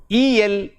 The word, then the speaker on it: electric: The word ends in IC. So, IC is a suffix. So, the stress falls on the syllable just before the suffix. That is, in the word electric, the stress is on electric. Electric. There are 3 syllables there. Electric. And it is on the second syllable, electric.